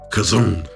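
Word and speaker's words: חזון: evaluate what it means like I said it's pronounced kazone um which I have a hard time doing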